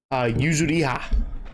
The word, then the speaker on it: Yuzuriha: How do you pronounce her name again? Yuzuriha.